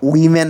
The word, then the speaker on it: women: উম্যান না বলে তুমি তখন উইমেন বলবা।